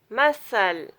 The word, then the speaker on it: muscle: letter C is it comes after an S and before an E or an I, then C will be silent. These words conscience, crescent, descent, disciple, fascinate, muscle, obscene, scenario, scene, sand, science, scissor, abscess, assent, acknowledge.